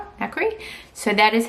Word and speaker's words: nacre: Okay, I just looked it up and the way you say it is nacre. So that's how I'll say it from now on. Anyway, it doesn't look like it's spelled like that, but that's how you pronounce it.